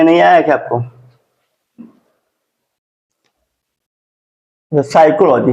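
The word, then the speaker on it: psychology: pneumonia इसको क्या पढ़ेंगे साइकोलॉजी बस इसमें आपको य ध्यान देना है की प के बाद एन या प के बाद एस आना चाहिए ठीक है और वर्ड और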